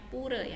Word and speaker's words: pura: di tempat ibadahnya apa namanya puree tulisannya pura dibacanya purei Hai selanjutnya yang terakhir